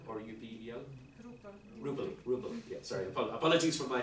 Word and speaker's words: Rupel: Rupel, yeah, sorry, apologies for my pronunciation.